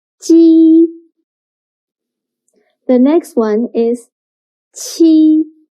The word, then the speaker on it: qi: Qi sounds similar to the first sound of cheap, but when pronouncing qi, your tongue should be more flat, and also you need to stretch your mouth to two sides.